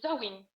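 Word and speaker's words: Samhain: Había uno que era, por ejemplo, el el Soin, que se escribe Samim, pero este se pronuncia y de ahí viene el origen del Halloween.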